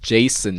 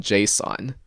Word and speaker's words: JSON: Or is this like how JS is actually supposed to be pronounced Jason rather than JSON?